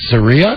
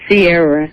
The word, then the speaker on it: Sierra: Saria? How do you say that name? Am I getting that right? Saria? It's Sierra.